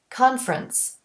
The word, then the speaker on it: conference: a word like conference most native speakers don't pronounce that middle e we say conference and for reduction the